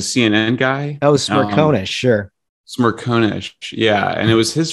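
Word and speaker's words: Smerconish: show interview with michael oh gosh i was butchered his last name smyrna smyrna is a cnn guy oh smirk sure smirkownish yeah and it was his first question too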